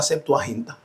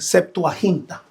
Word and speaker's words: Septuaginta: la traducción de la Septuaginta. Para aquellos no saben lo que son las Septuagin o Septuagin, su setaquinta o suelta o vamos a pronunciarlo bien, Septuahinta.